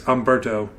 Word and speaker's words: Humberto: I know the H is silent, and it's Humberto.